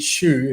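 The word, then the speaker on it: Hsu: up and beat beat Shoe who just for if anybody doesn't know who Shoe is, H S U his name is spelled from Chinese Taipei.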